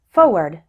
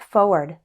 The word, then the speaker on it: forward: surprise forward and February this error is probably caused by the fact that when speaking fast we often don't pronounce the R surprise forward February listen to how